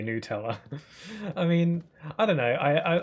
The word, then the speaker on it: Nutella: Like how some say Nutella. What the hell is Nutella? It's Nutella. It's literally made out of nuts.